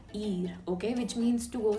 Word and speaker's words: y: which means and and we are pronouncing it e okay e ami amigo lewis